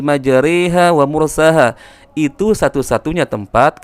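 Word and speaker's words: مجريها: qala rakabu fiha bismillahi majaraha. Akan tetapi para ulama menjelaskan itu adalah bagian bacaan imalah. Maka cara membacanya yaitu cenderung miring, cenderung kasrah, cenderung berbaris bawah. Maka dibacanya wa qala rakabu fiha bismillahi majariha wa mursaha.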